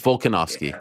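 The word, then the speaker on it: Volkanovski: because I said velocity I think I said his name wrong too yeah I think you did it's volcanovsky my bad yeah I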